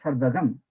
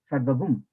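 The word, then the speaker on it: सर्वं: There we have to, though it is Sarvam, but there we pronounce Sarvagam, Sarvagum. Like a half moon and then the dot.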